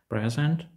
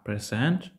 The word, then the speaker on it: present: відігравати навіть смислорозрізнювальну роль ось дивіться давайте порівняємо discus це диск вкидання диску Present - це подарунок але discus - це обговорювати а Present представляти переходимо з вами до